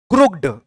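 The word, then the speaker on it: crooked: को हम कैसे पढ़ेंगे, क्रू और क में छोटी की मात्रा की, ड, क्रुकिड, लेकिन ऐसे पढ़ते हैं।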